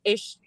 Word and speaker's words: Esu: it right uh yeah in the audiobook they pronounced it like issue he's like with the sh yeah but it's spelled esu i think correct yeah but